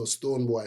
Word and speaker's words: Stonebwoy: boy is spelled the Jamaican way, you know, that has the attitude in it. So boy. So Stonebwyoy.